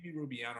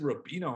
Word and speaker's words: Rubiano: pleasure of having on jamie rubiano did i pronounce that right i messed it up on this you did good job rubiano i said rabino on instagram i thought it was that way